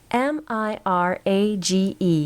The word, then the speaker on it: mirage: "M-I-R-A-G-E is pronounced mirage," said Valency shortly, picking up her tea and her beans.